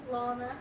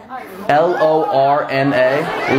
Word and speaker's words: Lorna: Lana. Lana? Lana. Lana. You're saying exactly what I'm saying. Lana. Lana. Lana. Lana. Did I not just fucking say that? Spell it. L-O-R-N-A.